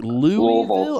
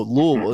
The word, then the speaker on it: Louisville: She's like, "Louville?" I said, "No, Louisville." It's it's all one syllable, you know, and so people That's how you can tell.